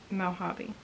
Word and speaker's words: Mojave: I want to say it's like Mojave or something like that. Pronounce, yeah, Mojave.